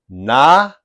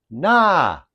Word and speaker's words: knowledge: a J sound, J, as if to say the D is almost silent and the G takes on a J sound, J.